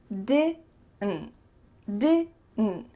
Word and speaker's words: didn't: Didn't, didn't. So that final D is cut short, and the final T as well is cut. So it's really going to be just your throat.